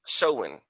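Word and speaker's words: Samhain: It's spelled s a m h a i n, but it's a it's an ancient it it's pronounced soen.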